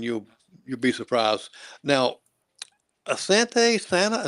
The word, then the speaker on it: asante sana: Now Asante Santa is that how you pronounce that? Uh Asante Sana it's Thank you very much in Swahili.